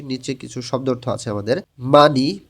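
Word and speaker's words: 많이: মানি বেশি, হিউতের পরে যখন ইয়ং আসে তখন হিউতটা ইয়ংয়ের স্থানে যাবে না, এবং হিউতের পাশে নিউন আছে, নিয়ম অনুযায়ী নিউনটা ইয়ংয়ের স্থানে গিয়ে উচ্চারণ হবে।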